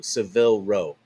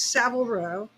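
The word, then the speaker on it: Savile Row: What is your connection to Seville Row in London? That's a good question. Um, thank you. It's it's Savo Row is how they pronounce it.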